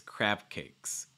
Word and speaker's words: crab cakes: cr um a sound you also want to make sure you're not inserting like a breath or a vowel in between the b and the c so it's not crab cakes it's crab cakes crab cakes release the